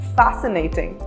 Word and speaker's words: fascinating: Whenever C and S are in a combination, then C is not pronounced. For example, scissor or fascinating.